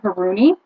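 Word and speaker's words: Hurani: name of the designer but it's on ravelry it's spelled h-u-r-a-n-i haroony uh my friend brandon knit this for me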